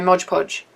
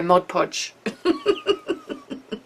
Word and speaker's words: Mod Podge: you to P well she told me I was saying it wrong uh cuz it's just easy for me to go Modge Podge now I have to think about it and go Mod Podge um yeah I've thought